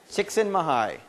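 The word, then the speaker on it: Csikszentmihalyi: uh someone up here said it's chicksen mahai chicksen mahigh that's how he pronounces it yeah yeah um chicken Mii um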